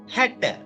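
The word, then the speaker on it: හැට: அடுத்தது 60க்கு வந்து சிங்களம் ஹட் ஹட்ட ஹட்ட என்று உச்சரிக்கா சரி இப்ப 60 என்று சொல்ல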